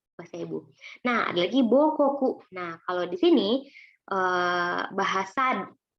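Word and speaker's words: 母国: Nah, ada lagi Bokoku.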